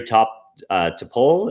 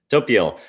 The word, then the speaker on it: Topiol: Uh Tophole, is that how you pronounce your name? sorry if I just butchered that. Topiel.